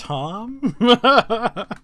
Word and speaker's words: Thom: It's Tom. Spelled with an H. Yeah. It's still Tom.